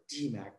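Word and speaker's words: DMAIC: Just pronounce it as DMAC.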